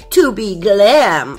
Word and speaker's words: 2B Glam: 2b glam bully gel i am so sorry in my unboxing video i was pronouncing it wrong all the time but it is to be glam okay to be glam